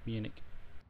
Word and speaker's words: Munich: at the garage yep munich munich i heard one person pronounce it munch you know she's like